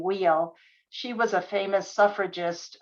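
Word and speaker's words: Weil: of gertrude and her she pronounced her last name wheel she was a famous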